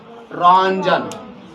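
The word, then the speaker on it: Röntgen: रंजन। देखो लिखा जाता है रोंटजन। लेकिन इसमें जो ट साइलेंट है। इसीलिए इसको हम क्या बोलते है? रंजन। रंजन बोलते हैं।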